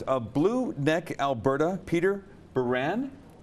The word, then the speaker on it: Baran: blue neck Alberta Peter Baran am I saying it right Peter Baron Baron Peter Baron Peter there's there